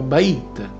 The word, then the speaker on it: Beth: con la lettera B in ebraico Beth che nella sua forma più antica si pronunciava Bait e si disegnava come